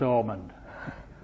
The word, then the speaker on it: Hammond: the same family origin because of the pronunciation of Hammond is almond so feather stones are